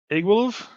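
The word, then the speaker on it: Iggwilv: her um the spell book of uh it's igwolove that's how you pronounce it yeah yeah igworld egg wolf yeah it's like yeah the spell book it's spelled look at igwolf I was like okay do you know who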